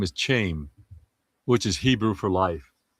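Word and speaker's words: חיים: And it's nice to pronounce in Hebrew is Chaim, but it was so cool.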